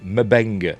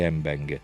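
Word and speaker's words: M'Benga: want to pronounce it it was originally pronounced mabenga in the original series Dr McCoy said it he said he didn't say embenga but captain pike when I was the embenga but I'm going to go with Dr McCoy's pronunciation uh anyway we learned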